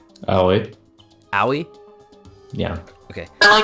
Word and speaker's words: Aoi: As of right now, I can never pronounce her first name. Oh, wait. Aoi?